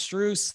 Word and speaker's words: Strus: team into a deep long playoff run max streuse that's how you pronounce it we appreciate it uh thanks man